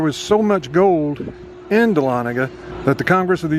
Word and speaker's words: Dahlonega: no idea how to say it, but it's pronounced Dahlonega. And gold was discovered in that town located in the North Georgia mountains. Thousands and thousands of people flocked to Dahlonega to strike it rich in their gold mines.